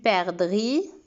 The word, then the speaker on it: perdrix: Une perdrix. Il y a ici un X muet.